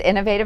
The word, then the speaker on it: Innov8tive: in working with you its innovative nutrition so WW innovative which is spelled very unusually i NN o v the number 8 tive nutrition